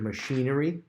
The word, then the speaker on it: machinery: Next word, machinery, has the sh sound made with a C-H.